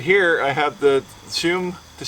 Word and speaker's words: Tschum: Right here I have the Tschum, T-S-C-H-U-M. I think the T is silent, so I'm going to call it the Tschum two-person Sausa.